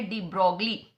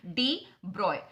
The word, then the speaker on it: de Broglie: यहां आप स्पेलिंग देखेंगे तो BROGLIE करके लिखा हुआ है, जिसको जैसे लिखा जाता है वैसे ही पढ़ लिया जाता है, डी ब्रॉगली. ठीक है. बहुत जगह पे आपको प्रोनाउंसिएशन डी ब्रॉगली मिलेगा, लेकिन the correct pronunciation is डी ब्रॉय.